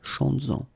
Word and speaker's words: chantes-en: Chantes-en, okay, could be chantes-en une, chantes-en. Alright, so keep in mind that you will have to keep this S, z, chantes-en, okay, to have this link between the two.